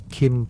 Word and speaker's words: Qin: Qin, pronounced roughly like Chin, became China.